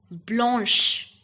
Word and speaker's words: blanche: c h e okay and it will be pronounced as Blanche the next color in the same category is